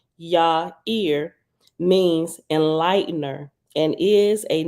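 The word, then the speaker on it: Yaiyr: at the bottom says the Hebrew word yair y-a-i-y-r pronounce Ya Ear means enlightener and is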